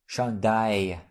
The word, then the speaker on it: chandail: This letter combination is pronounced like Y in the English word my. So we pronounce it I. Have a look. Travail. I. Chandail.